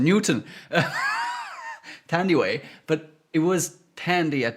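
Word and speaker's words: Thandiwe: Tandiway... Now I forgot her last name. Newton. Tandiway. But it was Tandy at the time. And also, I thought it was Thandy because it's TH at the beginning of the name.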